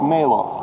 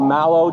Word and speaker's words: Malo: grave right there that says Malo, or Mallow, depending on how it's pronounced. I've heard it pronounced both ways.